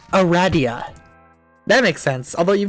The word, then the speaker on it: Aradia: You're saying it wrong. Aradia. Raz and the god Ra. Ra. The staff of Ra. Aradia. Aradia? Aradia. As in radiation. As in Toby Radiation Fox.